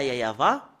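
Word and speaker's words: יהוה: à l'heure précise bien que le fait de prononcer ce Dieu le Père yayava ce yayava si nous voyons l'image le fait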